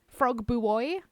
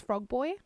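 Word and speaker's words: Frogbuoy: It's funny watching people try to pronounce boy. I wonder if they just aren't familiar with the word. Do they say buoy? Frog buoy? They wouldn't guess that it's frog boy.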